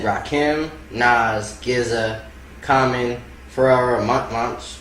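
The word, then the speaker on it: Pharoahe Monch: Miles said Rakim, Nas, GZA, Common, Pharrell Monch. How you say it? Pharrell Monch, that's right.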